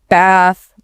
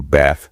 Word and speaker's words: bath: The classic example is the a sound in words like like bath, dance, pass, can't. Instead of that short a sound like in cat, it's often a longer, more open a sound. More like the a in father.